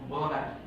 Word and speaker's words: Willamette: So no one in Willamette, did I say it right? Oh. It's like I have a disorder about this place, because I like, every time I say it, so it's Willamette.